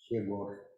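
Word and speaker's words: Heegaard: And now Hegar, I'm not sure in my pronunciation of this mathematician in Russian, he's pronounced it like Hegor, and something like that is correct for this Danish name.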